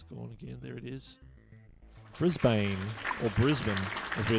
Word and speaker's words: Brisbane: Well, it's sort of in between. It says Brisbane. Well, that's how I pronounce it, Brisbane. So it's like Brisbane, and if you're Kiwi, it's Brisbane.